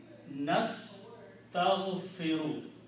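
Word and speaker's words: نستغفر: Nastaghfiru. That's how we pronounce nastaghfiru.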